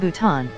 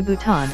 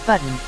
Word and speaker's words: Bhutan: of a 2017 meeting with India's Prime Minister mispronounced Nepal as nipple and laughingly referred to Bhutan as button according to two sources with knowledge of the